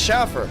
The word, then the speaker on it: Schaefer: So it's spelled exactly the same as Schaefer, but it's pronounced Schaffer.